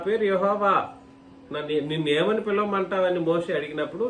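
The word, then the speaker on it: Yahweh: యెహోవా అనేది కూడా వాస్తవానికి ఉచ్చారణ కరెక్ట్ కాదు, ఉచ్చారణ కరెక్ట్ కాదు. ఉచ్చారణ కోసం యెహోవా అన్నటువంటి పదజాలం వాడబడింది, కానీ వాస్తవానికి YHWH అని అంటే ప్రభువు అని అర్థం. అర్థమైతే ప్రభువు. YHWH అని అంటే దాన్ని మనకు కుదరదు, యహ్వే అన్నట్టుగా వస్తుంది అన్నమాట.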